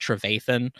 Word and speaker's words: Trevathan: But it's pronounced Trevathan.